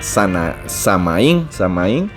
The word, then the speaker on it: Samhain: celta que se llamaba Samaín. Sin embargo, la pronunciación en inglés es Samhain. Es curioso, pues, cómo varía, porque no tiene nada que ver la pronunciación con la manera en que se escribe.